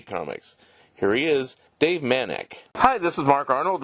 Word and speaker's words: Manak: in a printed form we'll say manic you did it right all right thank you